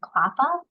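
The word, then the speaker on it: CLPHA: cross- sector initiatives at clappa that's how we pronounce that acronym the Council of large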